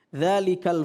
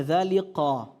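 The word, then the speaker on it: ذٰلِكَ: Ini dzalika, ini huruf kaf. Bukan huruf qaf. Ya. Sehingga membacanya bukan dzaliqa. Tapi dzalika. Dzalikal fauzul 'adzim, bukan dzaliqal.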